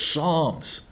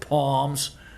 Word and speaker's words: Psalms: and and nobody nobody nudged him and said like hey it's psalms psalms you know the s is silent you know it's psalms stupid it's not palms anyways did the press make fun of him